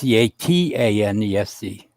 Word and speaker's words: Catanese: Everybody spells the last name wrong. It don't matter. It don't bug me. It's Catanese.